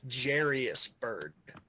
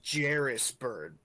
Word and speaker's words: Jairus Byrd: Oh, no. It's Jairus Byrd. My bad, Jairus. I pronounced your name wrong.